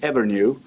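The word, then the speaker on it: Evrnu: You have a project with a company called Evernew, correctly pronounced, right?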